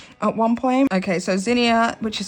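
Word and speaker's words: Zinnia: I did see quite a few people ask me about Zenia, I think it's called.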